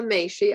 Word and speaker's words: Machie: a woman okay so my name is may she i'm gonna just spell it because it's t without an h